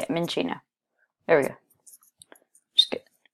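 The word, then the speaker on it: Minccino: Okay, it's like cappuccino. Okay, it's Minchino. That's how you say it, Minchino.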